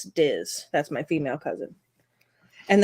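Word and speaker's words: Dís: I'm going to assume it's Diz, right? Because it's like the accent on the I. Yeah, yep. It's Diz. D-I with the accent S. Diz.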